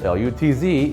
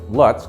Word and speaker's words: Lutz: Lutz, L-U-T-Z, is not pronounced like Lutz, like most of the population of the world would pronounce it. Around here, it's called Lutz.